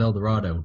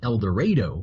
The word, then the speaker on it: El Dorado: Of El Dorado, but in Kansas we have a town called El Dorado, which is spelled the same, pronounced differently.